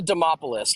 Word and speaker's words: Demopoulos: Vanessa Demopoli against Jacqueline Amorim. I am the worst pronouncer of last names in the world.